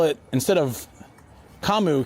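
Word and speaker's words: 噛む: But when they write it in English and they spell it instead of kamu k a m u they wrote c u m.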